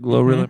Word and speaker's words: GloRilla: Is that how you pronounce it? GloRilla?